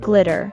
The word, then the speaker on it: glitter: In the American accent, the double T in the word is pronounced as the fast D sound, as they are between two vowels, I and E.